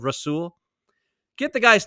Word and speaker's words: Rasul: he still can't say rasul he still says razul also Dan orlovski today on ESPN razul instead of rasul get the guy's name